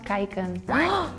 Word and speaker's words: kijken: It's pronounced kijken.